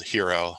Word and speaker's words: Hxro: and in 2018 founded uh a platform called hero uh that's spelled hxro um that's been in the market